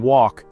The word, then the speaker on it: walk: In walk, the L is silent.